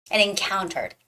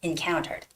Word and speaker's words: encountered: physical and encountered encountered don't say encounter it's more like in encountered encountered that's because there's no stress on the word encounter on the first syllable so the stress goes with the second syllable and counter encountered okay so here goes